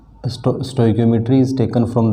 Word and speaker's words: stoichiometry: स्टोइकियोमेट्री का अलग अलग कई तरह से प्रोनाउंसिएट लोग इसको कर देते हैं। मैं इसको स्टोइकियोमेट्री बोलता हूँ, रिएक्शन स्टोइकियोमेट्री।